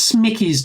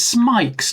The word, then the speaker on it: Smike: It's not Smickey's 24. Let's pronounce it right. It's Smike's 24.